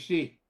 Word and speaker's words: Xu: X-U is she. Yes, Xu, yes. It's pronounced yes, she.